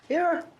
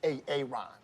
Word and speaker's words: Aaron: Aaron. Why didn't you say it the first time I said Aon?